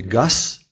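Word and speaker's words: gaz: А вот в слове «газ» он стоит в конце, и поэтому произносится глухо «газ», как и в русском языке.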